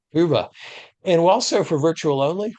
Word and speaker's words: Hoova: It is not WOVA, it is like an owl would say, Hoova.